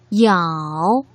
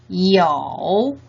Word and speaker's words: 有: 그런다고 유라고 읽으시면 안 되죠. 어떻게 읽어야 되나요? y는 앞에 성모가 오지 않은 경우 i를 그렇게 표기한 것이니까 이, 오, 우의 삼성, 이어라고 읽으셔야 되겠죠.